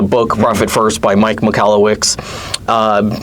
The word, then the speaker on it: Michalowicz: Yeah, it's Malawix. For long for the longest time I would say Mike Kawasaki or Mike Mawasaki or Yeah, I went to his website and pushed the hard time.